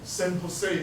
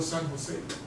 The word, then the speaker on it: San Jose: should be pronounced as San Jose or San Jose why Jose in Spanish okay okay so a